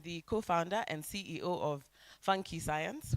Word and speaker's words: Funky Science: co-founder and CEO of Funky Science. We have several pronunciations you've heard. It could be Nigerian funk. It's not. It's still funky. There's also fun which Lilian has said. No, it's funky science.